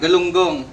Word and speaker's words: galunggong: This is galunggong.